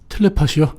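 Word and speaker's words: telepathy: 텔레파시요? 네, 텔레파시. 예. 네, 텔레패시 이렇게 되는데요. 텔레파시. 네. TH가 쓰 발음 나지 않습니까?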